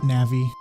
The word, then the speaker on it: Navi: I almost want to continue saying Navi because there's something hilarious about watching assumably full-grown people melt down in the comments section over my pronunciation of a fictional word. But alas, I will pronounce it Navi.